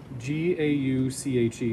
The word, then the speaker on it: gauche: this is given a special term it's called gauche g-a-u-c-h-e it's pronounced gauche it's the french word french word